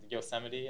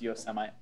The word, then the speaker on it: Yosemite: Plus, when I upgrade to Mavericks and Yosemite, I don't have to worry about that. So anyway, it's pronounced Yosemite.